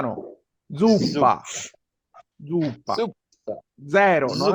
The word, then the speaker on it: zuppa: italiano no, supa no. Zuppa, zuppa.